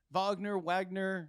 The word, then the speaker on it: Wagner: So that just tells you already what the heck is what's the future of this Wagner group, right? Right. Wagner. I mean, you pronounce it however you want, but I believe the proper pronunciation is Wagner.